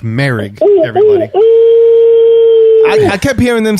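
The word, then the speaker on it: Moehrig: the draft trayvon uh that's how you say his name it's merrick everybody i kept hearing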